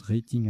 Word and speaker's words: rating: Moi, je prononce rating à l'anglaise, mais là, apparemment, il faut prononcer rating.